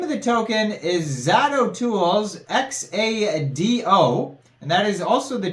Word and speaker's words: Xado: But the name of the project is Xado, I guess you would pronounce it.